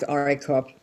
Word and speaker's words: Oricrop: Oricrop. I say it like Oricrop.